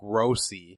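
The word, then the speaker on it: Grossi: new guys name is from Argentina and Rafael grossy so I'm gonna pronounce a G ro SSI and he was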